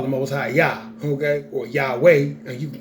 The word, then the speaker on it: Yahweh: yo you can call them always hi-yah okay Yahweh and you can call them almost hi-yah he